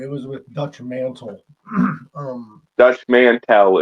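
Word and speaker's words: Dutch Mantell: Dutch Mantel is how you pronounce that properly.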